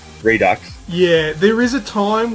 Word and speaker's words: Redux: titled hard reset excuse me hard reset redo Redux however you that must be like let's do it again sort of thing because you had what was it redo what is it do you know you're a